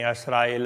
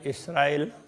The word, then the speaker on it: इसराइल: इसके लिए फिर के बनी असराइल हुए पीछे मूसा महतर। बनी असराइल, असराइल इसराइल, इस तरह से वो उच्चारण में थोड़ा थोड़ा फर्क है। कोई असराइल कहते हैं, कोई इसराइल कहते हैं।